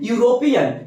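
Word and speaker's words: European: क्या कर रहे है यूरोपियन य से और य से लेकर ज्ञा तक में आता है साउंड कंसोनेंट है तो क्या हो जाएगा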